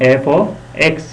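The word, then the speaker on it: f(x): तो यहाँ पर ये एफ एक्स एज a input treat करता है और इसको हम प्रोनाउंस करते हैं, रीड करते हैं एफ ऑफ एक्स.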